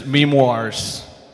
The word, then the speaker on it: MEMEOIRS: And I'm invited here on the stage MEMEOIRS, Italy, all right, Italy, join on the stage. Take the mic. So, say your name, please. The pronunciation is MEMEOIRS.